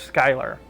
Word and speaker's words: Schuyler: Oh, it's pronounced Schuyler.